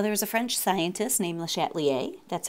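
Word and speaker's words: Le Chatelier: some examples so there's a French scientist named lattier that's how you say his name there and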